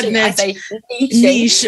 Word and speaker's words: niche: Yeah, niche. I know. You say it the right way. We Americans say it niche.